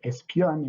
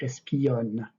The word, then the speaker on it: espionne: So in that case, you cannot say espionne in that poem. You have to say espionne, espionne, make it two syllables.